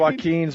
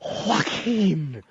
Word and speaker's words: Joaquin: Oh, Joaquin. Anybody with a silent J in the beginning of their name Joaquin.